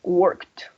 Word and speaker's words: worked: So here it's going to sound like a worked.